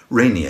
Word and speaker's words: Rainier: week and we'll see mount rainier as they call it over there rainier is how it ought to be pronounced but you can't miss